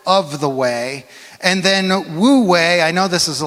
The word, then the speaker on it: Wu Wei: It's fun to say it like Wu Wei. Wu Wei.